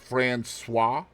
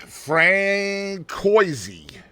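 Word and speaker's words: Françoise: passed away from cancer did you know that's pronounced franois I was waiting for you to say it yeah cuz Katie was Katie was gonna be like Frank Koy I was going to say Fran no that's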